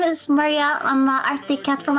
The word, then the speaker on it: Maria: It's the same like if I say my name, I would say Maria, like with an R.